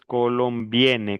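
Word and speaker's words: colombienne: Y el femenino es colombiane, como si dijera viene.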